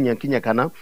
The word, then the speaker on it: Nyanki Nyakana: Et si je dis je m'appelle Nyanki Nyakana, les Blancs n'arrivent pas à prononcer Nyakana.